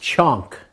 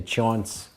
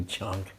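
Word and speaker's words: chaunk: another preparation, and especially, it's pronounced chonk in America because we'd spell it different ways. We'd say chaunts sometimes, so we didn't know how to say it then either, but it's actually chonk.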